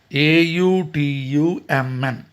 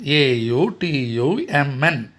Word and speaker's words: autumn: Autumn. Once again, Autumn. N is silent here.